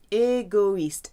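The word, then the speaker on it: égoïste: the eye that means those two dots tell you to say pronounce all the letters egoist usually oh I is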